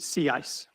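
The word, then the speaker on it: CICE: So pronunciation when Elizabeth invented the model, she pronounced it se ice um because it was a sea ice model.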